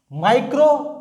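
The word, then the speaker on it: micro: माइक्रो और मैक्रो। इसमें difference क्या आएगा? आई का प्रोनाउंस होगा माइक्रो, फिर आएगा मैक्रो।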